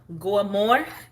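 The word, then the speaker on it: Goeiemore: It's pronounced like Goamore.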